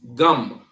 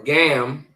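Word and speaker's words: גם: So our next word it means also or to right and it's pronounced gum. Gum. Not ga or gam right which would be in the English but gum ga and ma right gum.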